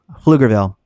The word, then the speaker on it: Pflugerville: Pronounce it with me. Pflugerville.